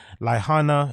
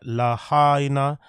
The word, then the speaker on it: Lahaina: adult resident who was displaced by wildfires in lyanna as I said it right Lahaina Lahaina and Kula would be eligible to receive